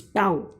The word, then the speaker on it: tau: See, it is like this, tau. Okay, T-A-U. Tau is the pronunciation of it. Okay, Greek pronunciation.